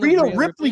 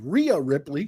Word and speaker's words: Rhea Ripley: uh my my pronunciation Rita Ripley doesn't wrestle there's no Rita Ripley Ria Ripley Ria it's not even close it's not like you